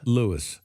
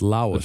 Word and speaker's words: Lois: Was Lewis her dad? Well, I mean Lois. Say that. Lois. Lois. Lewis. It's Louisis. Lis. It's Lois. Lois. Lois. Lois. Low. Lois. Loiz. Loiz. So, I mean, that's how it's pronounced.